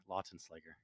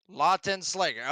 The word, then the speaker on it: Lautenslager: Lautenslager or Lutenslager. I'm sorry, I probably pronounced that wrong. How do you pronounce that right there, brother? Lautenslager. Lautenslager.